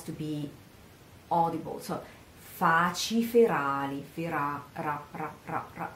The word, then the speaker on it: ferali: Siate per me faci ferali. Faci ferali. Again here, this R doesn't have to be ferali, but because it would sound double, but it has to be audible. So faci ferali, fera, ra, ra, ra, ra.